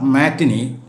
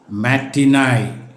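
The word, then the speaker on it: matinee: ടി ഐ എൻ ഡബ്ല്യു ഇറ്റ്സ് നോട്ട് മാറ്റിനി ബട്ട് മാറ്റിനായി മാറ്റിനായി എം ഇ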